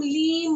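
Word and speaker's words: ह्लीं: भी switch word है हा साइलेंट है हम हलीम नहीं बोलते सबसे हम लीम बोलते ली साइलेंट है आपका ओके अब एक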